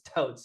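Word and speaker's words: Toates: So, it's spelled like toatees basically, but it's totes.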